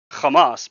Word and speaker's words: Hamas: If anything if you want to be a palestine supporter then you actually should be saying kamas because that is the proper way that they themselves named themselves. So, it's like like I